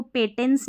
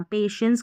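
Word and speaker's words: patience: अब इसको पेटेंस नहीं पढ़ना। पेशेंस का मतलब होता है धैर्य, सब्र।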